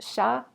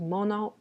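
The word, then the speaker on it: 者: It can be pronounced sha or it can be pronounced mono, but this is not the mono that means thing. This is a mono that means person. And this is the stroke order.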